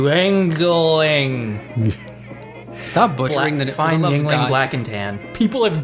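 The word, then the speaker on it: Yuengling: is a Philadelphia and I can't watch the name be butchered Yingling I'm drinking the Yingling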